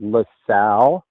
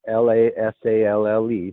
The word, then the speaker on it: LaSalle: road it's it's called it's called lasalle the bell is the mountain l-a-s-a-l-l-e that's lasalle mountain and it's called lasalle mountain loop road loop road okay yes lasalle mountain loop road and